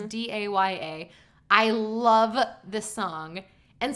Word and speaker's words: Daya: there called New by Daya, I think is how you pronounce her name. It's Daya.